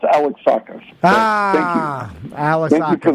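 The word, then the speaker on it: Alexakis: It's pronounced Alex Sakus.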